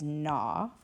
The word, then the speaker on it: gnaw: the word, but again, the G is silent.